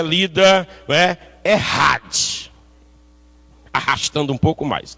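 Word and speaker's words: אחד: Mas certamente os que estão acostumados aí, que conhecem a língua, eles devem pronunciar Errad, né?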